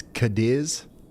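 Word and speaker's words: Cadiz: It's Kadis.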